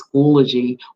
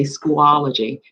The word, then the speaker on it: Schoology: that we're using this year and that is schoology or you may say schoology it's up to you you determine how you